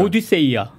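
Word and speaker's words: Ὀδύσσεια: 오디세이아.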